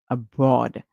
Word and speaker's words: abroad: a short song so we hear AB or abroad some of you may say abroad abroad would